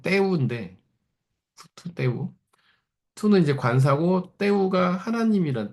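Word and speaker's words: τοῦ θεοῦ: 헬라어로 바실레이아 투 태우라는 말이거든요 혹은 뭐 정확한 발음은 때우는데 투 때우 투는 이제 관사 때우 하나님이란 뜻이에요 원래는 테오스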